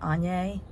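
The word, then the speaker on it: Áine: got foil and y'all I pronounce her name on yay she's the Celtic goddess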